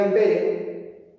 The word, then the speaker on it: ampere: Se escribe ampere, se pronuncia ampere, pero en el Perú amperio.